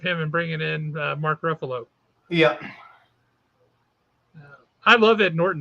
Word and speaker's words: Ruffalo: Ruffalo, yeah.